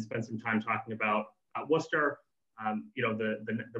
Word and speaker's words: Worcester: first of all most importantly is how to pronounce the name of the city it's not worcester it's not worcester it's worcester it's worcester so if you're going to come here you